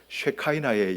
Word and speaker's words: 쉐키나: 쉐카이나의 영광 쉐의 영광 어떤 사람은 쉐카이나라고 이야기하고 어떤 사람은 쉐키나 이야기하는데 어 원어 발음은 쉐키나고요. 미국 사람들이 읽을 때 그러니까이를 갖다가 아 이래이 해 가지고 쉐카이나 이렇게 읽는데 뭐 똑같은 거로 이렇게 보시면 됩니다.